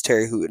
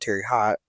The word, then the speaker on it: Terre Haute: in Terry hoot uh I've realized I've been saying it wrong the entire time and that it's Terry hoot not Terry hot um but yeah the